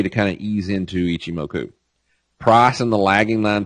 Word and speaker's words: Ichimoku: Now, this is how you pronounce and spell Ichimoku. I'm dyslexic, so I do it like this. I see, and I break it into H-I-M-O-K-U, Ichimoku.